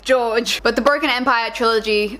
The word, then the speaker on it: Jorg: It's spelled J-O-R-G, and I know a lot of people pronounce it Jorg, Jorg, but for my sake I went with George.